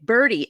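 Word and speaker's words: Burdi: this is tough because they pronounced the names the same even though one is b r d and the other one is b r oops b r ti so yeah so you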